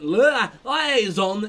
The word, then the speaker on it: liaison: Liaison! Yeah, that's how you pronounce that word.